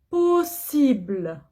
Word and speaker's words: possible: C'est possible. Possible. Je dis pas possible. Non. Il y a double S. Double S, je prononce ce.